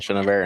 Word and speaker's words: Chenevert: And my name is Chenevert, and I own Chenevert Tackle.